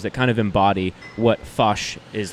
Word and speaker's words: Foch: kind of embody what fush is like uh so one of my favorite burgers of all time uh is i said it's fish right no you said it right okay forgive me no